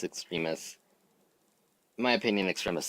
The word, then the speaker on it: Extremis: I used to pronounce it Extremis because that's how I read it, but it's Extremis.